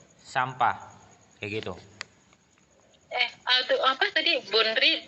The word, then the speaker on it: 분리: Bunri itu bacanya bully. Bully dari pertama. Oh iya. Double L. Jadi niannya diubah menjadi real.